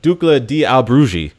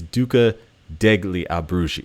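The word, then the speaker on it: Duca degli Abruzzi: and uh you know ducla Di albrugi and um I did not pronounce that right I think it's Duca degli abrushi okay so I'm messing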